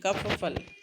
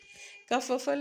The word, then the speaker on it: kerfuffle: And kerfuffle, it's not kerfuffle, इसका sound अलग है. It's not कर र is very little. Kerfuffle, kerfuffle is chaos or noise, right?